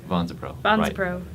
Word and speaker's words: VONSAPRO: VONSAPRO.